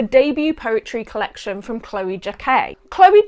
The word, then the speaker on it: Jacquet: Take It By The Line is the debut poetry collection from Chloe Jacquet. Chloe Jacquet rhymes with croquet, duvet, and poetray.